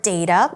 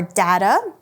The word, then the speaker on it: data: So here we see the word data or data. Both are fine, pronounced fine.